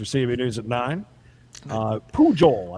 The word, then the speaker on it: Pujol: news at nine uh pujol i believe is how you say his name p-u-j-o-l rooster is jealous